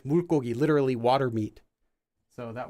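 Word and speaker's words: 불고기: Anyway, but that's the reason why it's pronounced as bulgogi when you read it, because originally this word was bulgogi.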